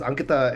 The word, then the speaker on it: Ankita: Emphasis on the first syllable.